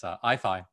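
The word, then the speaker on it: IAIFI: intelligence and fundamental interactions that we pronounce as ifi and you can see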